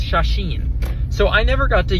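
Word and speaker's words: 写真: But I do know that in Japanese it's shasheen.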